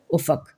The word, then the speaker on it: افق: سے نظر آنے والا کنارہ، اور اس کا تلفظ دیکھ لیجئے افق، اس کے اوپر جو ہے اعراب لگا دیے